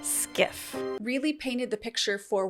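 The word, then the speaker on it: SCIF: I don't know why I kept calling it SHIF. It's actually pronounced skiff.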